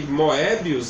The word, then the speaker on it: Moebius: Que Moebius, né? Que lá eles pronunciam Moebi, tá?